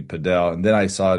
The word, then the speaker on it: padel: you spell it but they they pronounced it down in Miami padel and then I saw